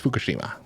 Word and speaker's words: Fukushima: It's Fukushima.